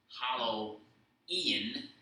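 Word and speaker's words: Hallowe'en: All Hallows Eve, or in the Celtic tongue, Hallow Ian, Eve apostrophe E-N, or the contracted form of Hallows Evening, became Halloween.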